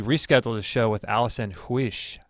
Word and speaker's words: Huish: We're actually rescheduled a show with Allison Huish. I think that's how you say it. Huish, I think.